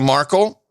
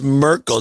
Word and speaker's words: Merkel: already present in germany is merkel not markle did i say markle no maybe she has a remarkable on the brain it sounded wrong it sounded wrong angela